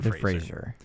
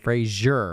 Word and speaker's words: Fraser: It is pronounced Brendan Fraser. Fraser. Not Fraser. It's not Frasier.